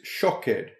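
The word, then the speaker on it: שֹׁקֵד: Hebrew, we realize that the Hebrew word for an almond tree, is shaked, and the Hebrew for watch over is shoked. In both cases, spelled shin kuf dalet, but with different pronunciations.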